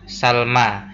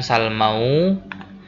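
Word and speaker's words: سلمى: Maka harokat akhirnya itu ya tetap di sini mabni, dia mabni, maka membacanya hanya Salma ya, bukan Salmau, bukan Lailau ya, tetap Salma, tetap Laila apapun kondisinya.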